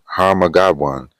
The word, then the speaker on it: Armageddon: It says that we will succumb to human-made threats, with midnight representing Armageddon, which that phrase, that term is that word, if you will, is in the scriptures. Okay, okay, it's actually pronounced Harmagadwan.